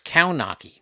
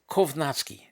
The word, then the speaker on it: Kownacki: It's Kownacki. No, it's Kovnasky. It's pronounced Kov.